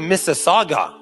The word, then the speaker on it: Mississauga: burning of pride flag in Mississauga is how you say it it's a saga police says and then